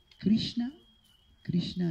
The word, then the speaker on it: Krishna: Krishna invece si pronuncia con la Sh, né Krishna né Krishna, ma né sibilata né Krishna, proprio come sciare. Krishna.